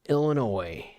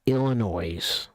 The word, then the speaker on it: Illinois: Me, ETX, I am in Northern Illinois. It's not Illinois, which I see a lot of people making that mistake. And even to this day, it's not Illinois. It's Illinois. The S is silent. Silent S.